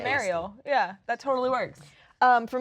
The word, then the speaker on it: Mariel: I'm just like, "Oh, like Ariel, the Little Mermaid with an M," and then I think of you. And That's perfect. She's Mariel. Mariel.